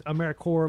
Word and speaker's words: AmeriCorps: That is AmeriCorps, like CORPS. I have no idea why it's pronounced that way, but that's why it's pronounced that way.